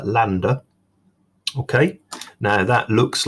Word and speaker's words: lambda: like a capital y upside down and it's pronounced can you see here lambda and that's the symbol for wavelength so distance